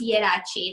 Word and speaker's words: Ieraci: So this is Ieraci. Is that how I pronounce it? Hi, everyone. Yes. I don't know. I'm always pronouncing the Italian names wrong, even though. Yes, it's Ieraci.